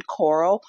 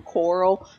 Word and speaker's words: Corll: The Walking Dead, and Rick Grimes always pronounces his son's name instead of Carl. He calls him Corll. So I know it's off topic, but that is where I'm getting that pronunciation from.